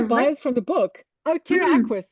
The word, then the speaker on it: terraqueous: Oh, terra aquis, like terrestrial and aquatic, as in terra aquis, like amphibious, or however you want to say it.